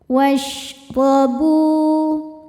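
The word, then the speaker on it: وَاشْرَبُوا: Huruf ro dibaca secara tafkhim karena ro berharokat fathah. Cara bacanya ro dibaca tebal. Washrabu. Bu hukum madnya adalah mad tobi'i zahiri sebab ada waw sukun yang sebelumnya berbaris dhammah. Cara bacanya huruf ba dipanjangkan 2 harokat.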